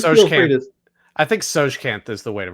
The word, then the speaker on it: Tsojcanth: I think Tsojcanth is the way to pronounce it.